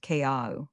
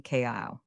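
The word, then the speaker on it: Keaau: It is pronounced Kea'au, quickly Kea'au.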